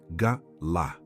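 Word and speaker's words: גלה: Pronuncia-se galá. Em hebraico, galá.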